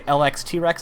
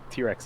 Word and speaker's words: LX T-Rex: I'm going to say LX T-Rex, is that correct? Hey, nice. Yeah, T-Rex is also fine.